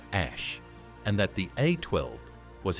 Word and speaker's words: Æ: Rogan Experience stated that AE was pronounced as ash and that the A12 was his personal addition to the name.